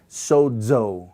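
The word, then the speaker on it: σῴζω: So we have the word in Greek sozo, sozo. This letter is in the middle of the word and has a DZ sound when you pronounce it.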